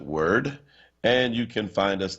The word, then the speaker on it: WURD: 96.1 FM go to the App Store and again look for wurd we pronounce it word and you can find